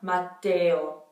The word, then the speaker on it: Matteo: But instead of Ia, we have Eo, Eo. Mattia, Matteo. So same thing. It becomes kind of like a Y sound in between the E and the O, and they're pronounced pretty strongly.